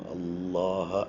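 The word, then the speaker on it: الله: പറയുക ലില്ലാഹി ഇവിടെ ലാം ലാം ജലാലയെ കനപ്പിച്ച് അള്ളാ എന്നുള്ള ഉച്ചാരണം ഉച്ചരിക്കുക അപ്പൊ ലാം നാവ് പല്ലിന്റെ തൊട്ടുപുറകിൽ പാലറ്റിൽ തട്ടുന്ന അതേ പൊസിഷനിൽ തന്നെ ആയിരിക്കണം അള്ളാഹ എന്ന് പറയാൻ ശ്രമിക്കേണ്ടത് അത് പല്ലിൽ തട്ടരുത് പല്ലിന്റെ തൊട്ടുപുറകിൽ തട്ടുക എന്നുള്ളതാണ് നമ്മൾ ശ്രദ്ധിക്കേണ്ടത് കുറച്ചു പ്രയാസമാണ്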